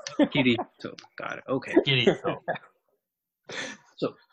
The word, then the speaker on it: Kirito: It's Kitty Toe. It sounds like kitty and toe. Kirito.